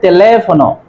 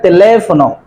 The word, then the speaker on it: teléfono: Whenever you find a tilde over a letter, it will be long intonation. That means you have to give accent on the letter. Número de teléfono, not teléfono. Teléfono, teléfono. Because tilde is used over a, that's why it will be teléfono.